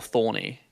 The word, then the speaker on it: thorn: How do you know when not to pronounce the e? Like is that thorn or thorny? It's thorn. I assumed as much. I'm just like wondering when would you know that? Well, cuz we're speakers of English. If we were in Germany right now, we'd probably pronounce it thorna because in in German